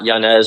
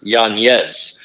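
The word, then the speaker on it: Yanez: also in this card Adrien Yan not janz or janz it's Yan so you know we're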